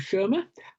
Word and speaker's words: Schirmer: Today I'm talking to Steve Schirmer. Have I pronounced your surname right, Steve?